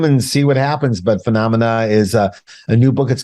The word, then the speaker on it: Phenomena: I thank you for sending me Phenomena.